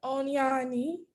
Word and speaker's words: Onyoni: correct before you wrap up here dr esther onyani say it right yes i got it right